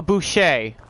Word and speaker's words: Boucher: Oh, Boucher. Okay. G. Boucher. Okay. That makes more sense, I guess. I mean, well, no, that doesn't make any sense, but if that's how it's pronounced, I will assume that.